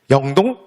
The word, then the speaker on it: 영동: 그지 우리가 뭐라 그래 2 법칙 이라고 하잖아요 그래서 우리는 발음을 영동 영서 라고 발음하지 그 다음에 택 완력에